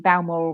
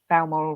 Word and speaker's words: Balmoral: makes me laugh when people say oh i used to live in belmoral road and i'm thinking it's not that barren balmoral road i just wanted a